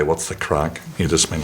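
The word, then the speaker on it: craic: Crack as we say in Belf. I suppose I have to explain that crack isn't crack. Um, crack is spelled C C R A I C.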